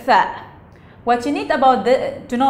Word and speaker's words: ث: It's like, it sounds like three, through, like this sound, so in between the teeth.